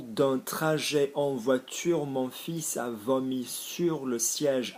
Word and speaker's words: fils: Mon fils, notice we're pronouncing the S.